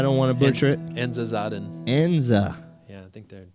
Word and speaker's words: Enza Zaden: Enza Zaden.